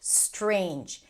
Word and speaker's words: strange: Not the ster, but just starting the word with that strange. and you might add a vowel before a strange meaning that you're changing the word a little bit and we want to focus on not adding sounds not reducing sounds.